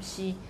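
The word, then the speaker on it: 毋: So for the lexical item meaning not, shi, so we say shi. So is a voiced labial, shi, okay, shi. In Mandarin, you don't have any word that would end with M.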